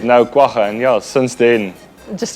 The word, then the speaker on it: Kwagga: So Kwagga.